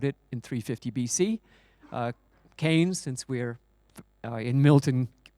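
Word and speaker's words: Keynes: Milton kees but he his name is pronounced kanes even though the town is named after him uh so so canes in 1930 uh said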